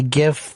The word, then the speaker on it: GIF: call them gifs and I've heard that that's the correct way to say it is a gif GIF like choosy mothers choose GIF exactly yeah I know